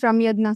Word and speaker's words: Ramyagna: How do you pronounce your name, Ramyagna? It's pronounced as Ramyagna, sir.